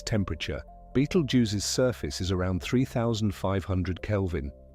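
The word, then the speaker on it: Betelgeuse: The upper left corner of Orion, the star that marks one of his shoulders, is Beetlejuice. Say it, however, feels natural to you. Betel use is the common English pronunciation, though the original Arabic name is older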